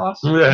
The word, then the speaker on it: Wenceslas: Well, yeah, and like King Wenceslas. No, the Christmas actually, song. I mean, I'm gonna say it. I'm gonna be the guy to say it. Wait, Fuck how the did you say Bohemian Lager. Wenceslas?